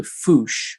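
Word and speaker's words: fossa: uh the only carnivore is something called the foosh which is spelt as if it's fusa or it's pronounced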